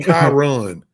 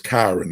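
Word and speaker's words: Kyron: to pronounce his name his name is kirn like Byron with a cake kyn drones please get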